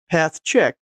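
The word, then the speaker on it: pathchk: I actually just go ahead and pronounce it path check, since it checks paths and files to see if they will work on most POSIX systems.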